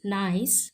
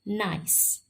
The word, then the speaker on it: Gneiss: So it's pronounced nice, but it is spelled as GNEISS. So nice.